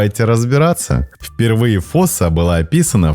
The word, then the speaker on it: фосса: Название фоса происходит от малагасийского слова и произносится с долгим «о».